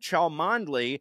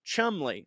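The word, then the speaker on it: Cholmondeley: put this out and he says that chalmandli is pronounced Chumley that was from operation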